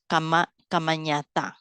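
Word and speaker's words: kammaññatā: Kamanyata, nya. The one to mention to you all, this one you pronounce with the nya.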